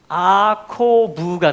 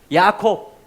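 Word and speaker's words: יעקב: 이걸 연결하면 야아코브가 됩니다. 그게 야곱의 이름이에요. 히브리식으로 읽으면 우리는 야곱, 제이콥 그러지만 야아코브, 야콥, 이게 뭐냐면 야곱의 히브리식 발음입니다.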